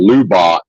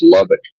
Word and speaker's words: Lubbock: And tomorrow's what the guy in Connecticut called Lubach, and I chose not to correct his pronunciation because he's probably never going to. I don't know if he ever even leaves the Northeast, so there's really no point coaching him up on how to pronounce Lubbock, Texas.